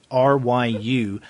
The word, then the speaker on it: Ryu: And along with Kei is you pronounce his name Ryu? R-Y-U.